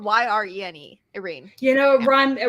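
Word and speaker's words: Yrene: a normal name knowing it no it's not it's spelled y-r-e-n-e Irene you know run rhymes with rhymes with her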